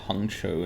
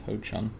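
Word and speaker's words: Ho Chung: Wow, that was probably racist of me to call it Hongchou instead of Ho-Chung.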